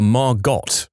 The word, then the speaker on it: Margot: other people, and Jean kept calling her Margot, pronouncing the T. Fontaine said, "No, Jean, the T is silent, as in Harlow."